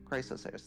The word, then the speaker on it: Chrysos Heirs: How do you pronounce it? The heirs? Chrysos heirs? Chrysos heirs, thank you.